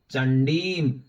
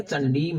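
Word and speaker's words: चण्डीम्: तो यशसा वर्धते सोपि कीर्ति मंडित भूतले जपेत सप्तसतीम चंडीम, यहां पर सप्तसती नहीं है, सप्तसतीम है, बिंदु भी है, और चंडी नहीं है, चंडीम है।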